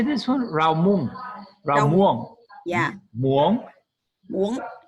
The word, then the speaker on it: rau muống: Rau muống. Rau muống. Yeah. Muống? Muống. Yeah. This means spinach? This means spinach. Yeah. Rau muống.